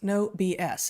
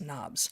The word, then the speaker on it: NOBS: No BS. It's right there in the name, N-O-B-S, Knobs. You can pronounce it either way you like, Knobs or no BS.